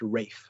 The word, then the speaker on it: Ralph: a crime against English characters um uh it's pronounced rafe like R like what we would spell as